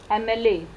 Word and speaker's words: MLA: Whereas if we pronounce a word MLA, MLA. So MLA's pronunciation, its words begin with M, but it sounds like vowel.